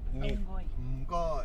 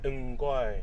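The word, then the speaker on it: 唔該: Mgoi. Mgoi. Excuse me. Well, we learned a bit of Cantonese in the car. An amazing driver. Mgoi.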